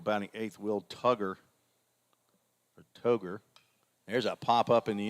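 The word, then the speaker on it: Toghe: hitter the d-h will t-o-g-h-e and i know the h is silent toger is what i'm gonna go with and brady ingram is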